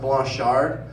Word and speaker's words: Blanchard: It's a French name, so it's actually supposed to be pronounced Blanchard.